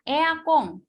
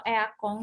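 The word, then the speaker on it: エアコン: Kalau eakong di sini emang huruf N kan, tapi kalau di Jepang itu pelafalan huruf N-nya jadi eng. Jadi ini bacanya bukan eakon, tapi eakong.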